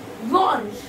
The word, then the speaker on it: blanche: Blanche. This we pronounce blanc. This we pronounce blanche.